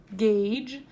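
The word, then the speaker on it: gauge: hard sound yeah gain and the soft sound Gage and the U is not really serving the same kind of purpose here or any purpose it just we would say this say gage without the U so it's kind of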